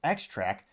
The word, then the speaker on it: Xtrac: a 7-speed manual gearbox from X-Track, that's spelled Xtrac, again, making it the only one with a stick shift.